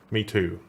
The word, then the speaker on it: Mi Tu: Basically, they censored Me Too, but the way that you pronounce the characters for Rice and the bunny sounds kind of like Me Too. It's M-I and T-U, so Me Too.